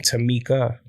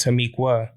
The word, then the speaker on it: Tamiqua: video about Tamiqua you'll notice that I was pronouncing her name to Mika and that's because of the spelling of her